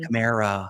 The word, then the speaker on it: Kamara: That was Alvin Kamara. I was going to say, does it rhyme with Shamara?